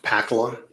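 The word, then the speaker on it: Pakkala: name for the record my name is pakla p as in Paul a k k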